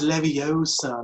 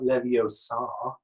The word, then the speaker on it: Leviosa: You know, like it's Leviosa, not Leviosa. I mean, who cares?